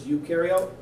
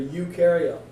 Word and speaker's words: eukaryote: trouble remembering prokaryote versus eukaryote the one way i tell people to help remember pro rhymes with no prokaryotes have no nucleus you for eukaryotes you rhymes with do because eukaryotes do have a nucleus so pro know